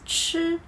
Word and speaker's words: 吃: The difference is that when we pronounce 吃, we should make a bigger gap between the tip of your tongue and the ceiling of your mouth.